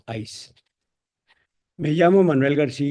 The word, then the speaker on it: ICE: sus siglas en inglés, Ice y pronunciamos ACE.